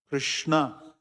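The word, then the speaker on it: कृष्ण: You have to put Krishna, there should be halant below na. It's not It is na. Krishna.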